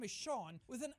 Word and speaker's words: Sean: If you think for a second that your name is Sean when it's spelled S-E-A-N, no!